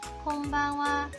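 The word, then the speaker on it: こんばんは: 곤니찌와 찌지 곰방와 곰방와 곰방와의 콩방은 한자를 보면 금만이라고 적혀져 있고 뜻은 오늘 밤이라는 의미를 가지고 있습니다 마지막 글자 하는 조사로 쓰여 와로 발행되는 것이겠죠 그래서 오후의 인사와 같이 곰방와는 오늘 밤은 어떠세요라는 의미인데 뒷부분에 생략된 것이라고 생각하면 되겠죠 곰방와 또 곤니찌와와 마찬가지로 쓰는 것과 말하는 것이 다르기 때문에 마지막 글자에 주의해야 합니다 일본의 저녁 인사 안녕하세요도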